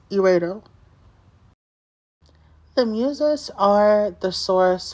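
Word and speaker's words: Erato: Her name means lovely or desirable, and it's pronounced eros, or like erotic or eros, but it has like a T, so it's eredo.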